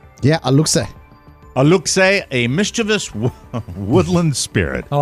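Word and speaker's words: Aluxe: the uh Oscar I'll ask you on the pronunciation a-l-u-x-e A Luke say yeah Alexei a look say a mischievous Woodland Spirit oh I hate them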